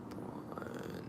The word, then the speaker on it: Braun: Braun. Mike Braun. So, um, he is the Mike Braun.